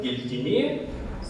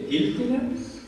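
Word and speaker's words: Giltinė: Речь пойдет об слове и имени мифологического персонажа Гильдине, или иногда это слово имеет другое ударение, Гильдине, персонификация чума, или просто смерть жрецовства языке.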